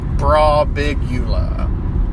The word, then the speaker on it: Birbiglia: Birbiglia.